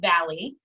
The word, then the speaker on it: Vallye: It is pronounced Valley. It's just like hills and mountains and valleys.